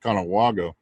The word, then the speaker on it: Conewago: I'm not sure how to pronounce it right. Conewago Phantom? Yeah, Conewago Phantom.